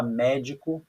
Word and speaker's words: médico: Mé, de, co. Aí, como eu já falei para vocês, quando a palavra tem acento, é muito fácil descobrir a sílaba tônica. É aquela sílaba que tem o acento, ó. É o mé.